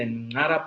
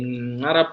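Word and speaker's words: !nara: We do also have a plant called the Ngara plant. The Ngara plant, you have to make actually the click to pronounce the name Ngara plant.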